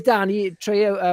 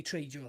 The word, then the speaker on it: Trejo: I mean, where was Danny Trejo? What's his name? Danny Trejo. Trejo. You must have been like busy that week. You were dying to say Trejo then.